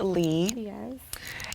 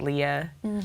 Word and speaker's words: Lea: spelled le a and a lot of people would pronounce it Leah but it's actually and I was like